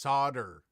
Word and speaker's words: solder: from the chicago area it's pronounced solder noel thank you gear junkie